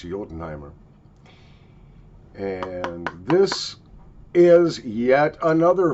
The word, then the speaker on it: Jotunheimer: my German friends uh this is pronounced I believe this you know the the uh land of the ice giants yotenheimer and this is yet